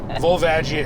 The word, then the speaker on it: Volvagia: Volvagia is correct.